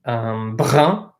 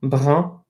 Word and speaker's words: brun: So anything with that U-N is pronounced un.